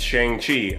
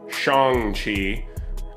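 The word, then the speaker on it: Shang-Chi: haven't guessed it it's shang chi i mean shang chi i've been mispronouncing that for years and so the movie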